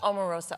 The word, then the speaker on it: Omarosa: for mispronouncing your name I've been calling you Omarosa ever since I heard your name well it's Omarosa omorosa hard Oh hard Oh like Obama Obama Oprah yes African names are